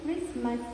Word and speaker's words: Christmas: Here we don't use the T sound. The T sound is silent in all these words. We pronounce as listen, Christmas and often. So here T is said to be silent.